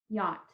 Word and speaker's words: yacht: to say the words yacht just one syllable okay yeah ah those are all the sounds we hear but there is a silence monogram and it's a double letter phonogram that is silent okay we think to